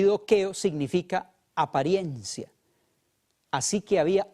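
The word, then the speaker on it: δοκέω: En el idioma griego es una palabra que se pronuncia dokeo, y dokeo significa apariencia.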